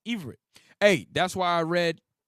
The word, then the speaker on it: Ivrit: The name Hebrew is simply the English version of the Jewish word Ibrit, pronounced as Ivrit.